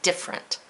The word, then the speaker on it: different: blank syllables hmm different some of us just say different so it sounds like it's different that's not true both of them have three syllables so let's write the